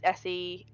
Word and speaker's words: Seirian: How do you spell that? Crisiant. And then it's Sarian is Seirian.